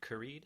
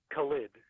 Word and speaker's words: Khalid: First, before I continue, is it Karid or Karid? It's Khalid. Khalid.